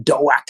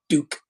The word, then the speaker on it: Doak: Doak. I think it's pronounced Doak, not Duke.